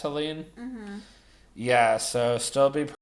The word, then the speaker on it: Helene: Is it pronounced Helene?